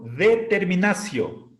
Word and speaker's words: determinatio: La sílaba ti delante de vocal se pronuncia sí. Definicio, determinacio.